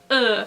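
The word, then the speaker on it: ㅡ: as an i sometimes but this one is a bit trickier since this sound does not exist in english it's it's just it's just not a thing in english so i will leave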